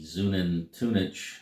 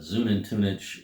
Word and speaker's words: Xunantunich: talk about the uh the zunen tunic I believe is the the name the way you pronounce this the way the tour guide pronounced it the zoom in Tunis uh pyramid Excursion that